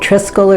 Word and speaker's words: Triskelion: Triskelion, I think is how you say it, Triskel or Triskelion.